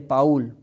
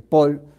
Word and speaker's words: Paúl: la santa Iglesia Católica San Vicente de Paul como se pronuncia nuestros países españoles de Paul dirían los franceses San Vicente de Paul